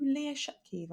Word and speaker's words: Leah Shutkever: excuse me this sounds really weird but you lear shut kiva and i'm like yes yes i am and